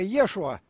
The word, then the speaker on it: Иисус: это все не так произносится в оригинале иисус ли так у нас по-еврейски ассасин резко йешуа но мы не будем говорить ешь его раз уж от греков досталась нам иисус то будем считать иисус а я куда почему